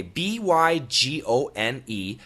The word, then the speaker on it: bygone: G-O-N-E has an A-W sound, gone, gone. When you do the A-W sound, the tip of your tongue must be all the way in the bottom of your lower jaw.